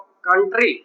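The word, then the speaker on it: cut: यहाँ पे सट नहीं बोलेंगे, कट, क्योंकि सी के बाद क्या आया है, यू।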